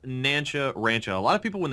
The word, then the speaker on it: Nancha Rancha: Uh, it it's pronounced Nanchcha Rancho. A lot of people when they read it, they read noncharancha.